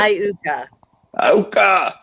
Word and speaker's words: Iuka: Is it Iuka, Mississippi, or? Yeah, it could be. How do you say it again? Iuka? What? Iuka.